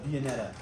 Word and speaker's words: Viennetta: I'm pretty sure I'm pronouncing it right. It's Viennetta. Maybe that's kind of that might be the country way to say it, but I've always called it Viennetta.